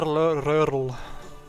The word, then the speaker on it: Röhrl: Walter Röhrl. Yeah. Said Röhrl. that. Röhrl. Okay. That's really the German pronunciation of that. Walter Röhrl. It's the German real one.